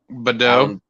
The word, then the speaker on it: Baudot: Knew a little bit about them, but Alan Baudot, is that how you say it, Ben? Badeau.